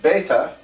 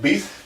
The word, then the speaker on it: Bethe: Though we pronounce his name Bethe, even though it looks like Beeth.